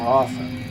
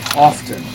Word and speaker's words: often: myself of that more often or as often. Seems like more people nowadays say often, but when I was an 80s kid in the 80s, they taught us that the T is silent.